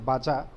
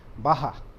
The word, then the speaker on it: baja: it is written as bsj but it is pronounced as a baja it is not bhaja as many of our you know as indian